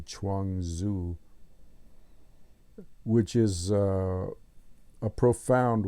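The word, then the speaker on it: Chuang Tzu: book The Chang Zoo which is spelled CH n g Tzu Chang zuo which is uh a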